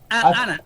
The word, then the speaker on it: Hannah: I'm Hannah. Repeat Oh, again. en español, Ana. Ana. H-A-N-N-N-N-A-H. Ah, ya. Pero no pronunciamos en español el H. So, No, sí, el H no. H Ana. es en español se dice H es muda.